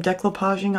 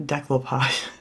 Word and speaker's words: decoupage: And I know I don't pronounce it right. Everybody keeps correcting me, but I have said it that way my entire life. It's never going to change. So I know it's not decoupage, but that's how it